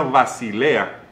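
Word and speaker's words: βασιλεία: en el griego es un término que se pronuncia basilea y significa propiedad real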